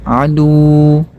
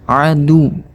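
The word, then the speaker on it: عدو: Nah, kita tekan, bukan adu, tapi kita tekan adu.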